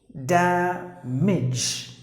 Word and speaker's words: damage: The next word is damage. Any word ends with age, you have to pronounce the part as age, not age, not the long sound, but the short sound.